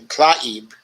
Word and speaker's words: Tlaib: Well, her name is hard to pronounce. It's actually Tlaib, if I'm correct. And I believe I may be one of the few people who pronounce it correctly.